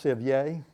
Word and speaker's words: Sevier: That's why we have Lequire and Delosier and Sevier, which should be pronounced Sevier, but we don't.